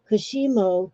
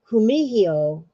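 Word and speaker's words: kumihimo: none of that stuff kushimo pronounced ku kumihiyo is the arc of chinese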